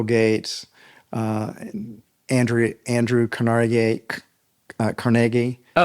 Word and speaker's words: Carnegie: Uh Andrew Andrew Canar Cargi. Oh. Uh you mean Carnegie? No, it's pronounced Cari. It is. Yes. It got New Yorkized, but that's how he pronounced it.